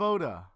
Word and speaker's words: Oda: Bally, voice actress of Oda. Her name rhymes with soda.